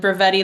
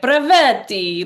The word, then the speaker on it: Brevetti: So it's like, like from the Parent Trap, and then Brevetti, like Brevetti. Like if you said it like an Italian, that's how you spell it.